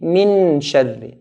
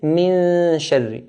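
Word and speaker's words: مِن شَرِّ: If I touch it, it will be min sharri. Min sharri. Noon will be clear. We want to hide it. So we'll say min sharri. Min, the ghunna, min, then say the sheen. Min sharri. Min sharri. This is how to hide the noon. So min sharri, min sharri. This is similar to the English word lung or young. We don't say lung.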